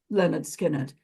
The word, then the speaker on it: Lynyrd Skynyrd: Leonard Skinner's first album pronounced Leonard skinnard and I put it on